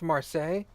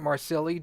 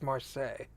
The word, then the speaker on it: Marseille: would I pronounce that city I'm pretty confident pronounced Marseille although I'd love to pronounce it marsilii just to piss people off but I'm like 99% sure it's Marseille correct okay you also have to keep in